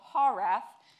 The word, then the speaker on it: HAWRAF: So in the chance that you haven't heard of a studio called HAWRAF, this is how you pronounce it. It's HAW like saw minus the S plus an H, raft minus the T.